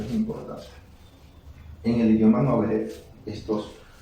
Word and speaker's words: Ngäbe: Así es que muchas veces las personas se refieren a ese pueblo y dicen Ngobe o Nobe, pero lo correcto es Ngobe.